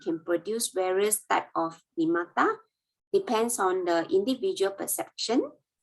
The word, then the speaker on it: nimitta: Sorry, pronounced as the nimitta. Sorry, nimitta.